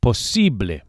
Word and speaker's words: posible: The second syllable, the E, is accentuated. Posible. And the final E sound, as always in Spanish, is a pure vowel, not A. Don't say posible, but posible.